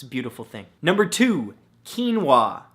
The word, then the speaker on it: quinoa: beautiful thing number two quinoa spelled ke en wuah no that's not how it's spelt at all but it should right come on English now the